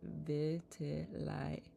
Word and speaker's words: vitiligo: Natalia says, it is pronounced vitiligo. Vitiligo. Vitiligo? Vitiligo? I'm okay. I was like, I could have sworn it was LIGO.